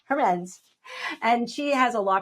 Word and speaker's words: Hermance: And I'm here with Hernandez. Did I pronounce it correctly? Hermance.